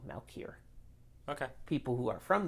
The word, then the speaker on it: Malkier: itself is turning poison two or three syllables i say this two malkier okay people who are